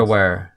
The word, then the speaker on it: Sturmgewehr: Sturmgewehr, or I have no idea how to pronounce it. Sturmgewehr.